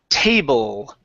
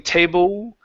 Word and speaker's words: table: Let's go to the word table. Okay. So, pronounce a good L here. Instead of saying table with an oo, it's table. Table.